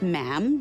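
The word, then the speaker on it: ma'am: majesty and after that is just mam rhymes with jam and it's always a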